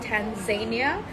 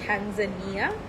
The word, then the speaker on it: tanzanite: world which is Tanzania it's not Tanzania so I learned how to pronounce it it's Tanzania okay uh it is a